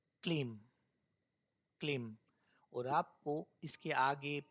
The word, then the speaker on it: क्लीम: और वो जो मंत्र है वह आपके सामने अब स्क्रीन पर है जिसका नाम है क्लीम। ठीक है? उच्चारण सही होना चाहिए। मंत्र है क्लेम।